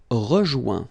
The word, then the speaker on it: rejoint: Rejoindre, rejoint. Okay? Same thing. Final T not pronounced. Joint. So when you get this O-I-N combination of letters, you get the sound ouin. Okay, joint, and then rejoint.